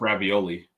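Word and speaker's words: Raiola: mind Nebraska signed Dylan Rola who was supposed to be like the number one quarterback in the country pronounced ravioli ravioli so I I think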